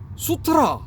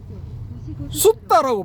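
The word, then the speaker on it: sutta: 예를 들어 슈트라 혹은 슈트라 뭐 이렇게 발음해서 안 되고 숫다라고 발음해야 된대 그죠?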